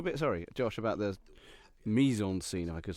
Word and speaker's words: mise en scène: should talk a bit, sorry, Josh, about the mise en scene, if I could say here, because it is the most kind of Wes Anderson-y type scene. Yes, mise en scène. Yeah, it's Thanks for pronunciation.